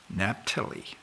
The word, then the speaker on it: Naphtali: Naphtali. I didn't used to pronounce it that way, but in my Bible